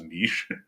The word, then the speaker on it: niche: By the way, I think you're the first person I've spoken to that pronounces niche as niche. Oh, really? I'm, Oh, because Americans say niche, don't they?